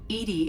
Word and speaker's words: EDI: are you named Edie Edie is the phonetic pronunciation of EDI what do you do